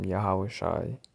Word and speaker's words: Yahawashi: That's not the real name. That's a Yiddish Hebrew name. The correct way to say is Yahawashi. That's in Paleo Hebrew.